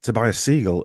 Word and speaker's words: Tobias Segal: And today's guest is Tobias Segal, and have I pronounced that right, Tobias?